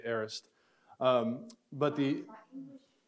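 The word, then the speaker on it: aorist: now well that in in Greek it would probably be pronounced a little bit more like what you said it but in English we usually just say arist um but the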